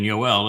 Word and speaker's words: Yoel: The O sound in Yoel is from the Wah.